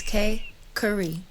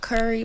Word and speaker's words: Kay Khari: It's K Khari. Not Khari, not Curry.